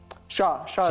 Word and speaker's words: Shah: today with ran sha I am pronouncing it correctly Shah or Saha Sha Sha is correct perfect so ran from